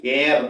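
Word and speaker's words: heir: എയർ, അനന്തരാവകാശ് എന്നുള്ള എച്ച് ഐ ആർ. എച്ച് E silent. It ഹാസ് എൻ അൺസൗണ്ടഡ് എച്ച്. എച്ചിന് ഉച്ചാരണമല്ല.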